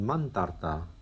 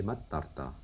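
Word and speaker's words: ܡܛܪܬܐ: Donc ça serait mantarta, mais ça fait mattarta. Donc il veillait la veille. Hein? On a vu que donc quand le N était fermé la syllabe, qu'il y avait une consonne derrière, hop, le N s'assimilait à la consonne.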